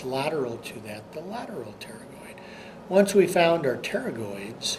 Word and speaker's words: pterygoid: they got their name pterygoid because it's a reference to wing as in pterodactyl and then the p is silent in that word when you look at